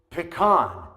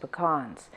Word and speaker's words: pecan: a lot depending on whether you're in the north or the south, just whatever, is pecan. Obviously, I say pecan, and she agrees with me. Sweet and gooey and just full of toasted pecans. Now, but some people say pecan.